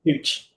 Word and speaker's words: Puig: And I think with Puig or Puig, I think he can. Puig, yeah. Ricky Pooch. Ricky, yeah. It's an unusual way of saying it, but yeah, it's apparently how you say it.